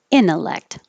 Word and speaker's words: intellect: is too close or you don't have to have the t at all because now the t is after the n in the unstressed syllable so now you can get rid of it intellect intellect and that kind